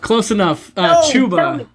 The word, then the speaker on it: Ciuba: Ciuba? Close enough. Chuba. Chu. The CI makes the CH sound. Yeah, that's Chuba.